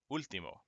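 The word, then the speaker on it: último: a word like that so you don't say it wrong like this one you want to say ultimo instead of like ultimo or ultimo it just starts to sound wrong all right so make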